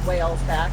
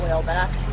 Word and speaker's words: Whalesback: across whales back Channel we realize we've been saying it wrong it's whales back not whale back and we are going